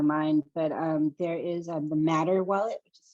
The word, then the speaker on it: Mattr: But there is the Matter wallet, which is spelled MATTR, that you could look at.